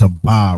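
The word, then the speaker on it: אבא: We know that that's a ba right there. That's clear as a va. A, but it's pronounced aba.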